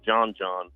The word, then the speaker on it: Djon: It's spelled DJON. It's called John, and it's a black mushroom base that it's umami, if you will, and it'll turn the water brown, right?